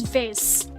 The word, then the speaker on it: vase: How do I pronounce I pronounce it as vase? I I know it's I know there's like a alternate pronunciation called like Vasi, but like um No, no, no, no, no, wait. What? No, no one pronounced it at Vosi, but like Vos. Yeah, I know some people pronounce it like Vos and I'm like what?